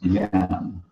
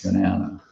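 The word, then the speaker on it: Jnana: Yeah, so it's pronounced Gyan, not Janana, something.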